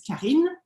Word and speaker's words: Karine: Yes, Karine is pronounced pretty well for an English speaker. In French, it's Karine.